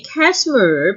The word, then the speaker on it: Kashmir: And the word should be Kashmir because the first syllable is having sh sound instead of s.